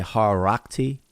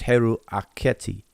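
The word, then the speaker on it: Heru-Akhety: But it's actually they say Harakti, and when they pronounce it all together, but it's Heru Aketi, and that is Horus of the horizon.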